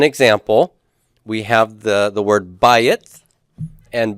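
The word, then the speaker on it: בית: the word bayit, and bayit has the AY diphthong, I, bayit, bayit. And when it loses its stress under certain circumstances, bayit can lose its first syllable stress here, then it becomes bait.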